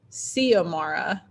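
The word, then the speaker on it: Xiomara: a r a and i think they pronounced it c amara like an s instead of a z but yeah very weird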